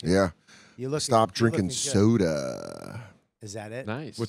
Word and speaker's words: Soder: You guys can't say my last name properly. We say soda. Yeah, it's soda.